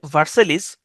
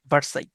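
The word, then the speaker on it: Versailles: এখানে যদিও লেখা আছে ভার্সেলিস উচ্চারণটা হচ্ছে ভার্সাই।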